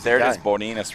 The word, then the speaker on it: Bodinas: Bodinas, that's how you say it.